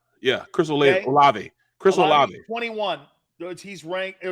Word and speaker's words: Olave: Olivier? Yeah. Chris Olave.